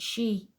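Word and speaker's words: Sídhe: The Sade, pronounced she, means people of the fairy hills.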